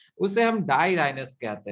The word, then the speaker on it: dirhinous: और जो नेथोस्टोमेटा होते हैं, जिसे हम नेथा कह रहे हैं, ये डाईराइनस होता है, DIRHYNOUS।